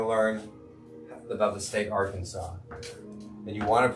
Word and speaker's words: Arkansas: she knows she knows are kansas but don't spell it like r kansas r-a-r kansas arkansas now say it with me guys arkansas arkansas karkansas our kansas are kansas okay say it